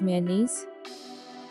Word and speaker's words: mayonnaise: and on french fries most of the people pronouncing this word is my or nice but its correct pronunciation is mayonnaise me uh knees mayonnaise stress is on knees mayonnaise next word is